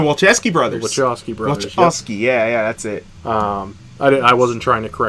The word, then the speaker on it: Wachowski: Wachowski, yeah, that's it. I wasn't trying to correct you. I was just pronouncing it the way I read it.